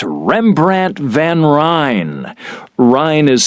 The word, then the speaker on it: Rijn: It's Van Ryn. I'm sorry, Amy. It's Rembrandt van Rijn. Rijn is spelled R-I-J-N.